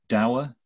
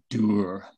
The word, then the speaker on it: dour: There's a word in English, dour, or as the Scots that I live amongst now pronounce it, dour.